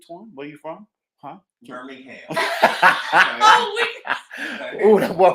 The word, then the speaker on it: Birmingham: Birmingham. Oh, that boy pronunciated everything. Birmingham. Well, we don't never put the G in there.